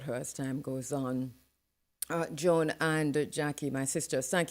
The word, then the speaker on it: Joan: Joan, Jone, yeah, Joan. I It's think pronounced Joan.